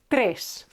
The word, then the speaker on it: tres: Okay, so keep it short. This e is short. Tres.